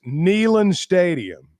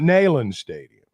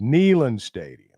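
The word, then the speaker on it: Neyland: Jordan it's not Jordan just like it's nean stadium and not nen Stadium it's nean stadium and it's Jordan hair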